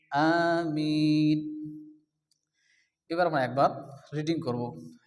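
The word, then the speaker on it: آمِين: আমিন আমরা সর্বদায় পড়ি এখানে আলিফের উপরে কি আছে খালা জবর এজন্য এক আলিফ টান হবে আ মিম ইয়া জের মি ইয়া মাদ্দা এক আলিফ টান দিয়ে পড়তে হবে নুন সাকিন আমিন আমিন এবার আমরা একবার রিডিং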